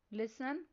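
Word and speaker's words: listen: Next word है लिसन। इस word में साइलेंट लेटर टी पर सर्कल करना है।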